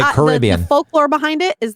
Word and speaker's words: Caribbean: But like Caribbean's actually Caribbean. It should be pronounced Caribbean because the native people of the land, which I wish I could, were Caribs, I think.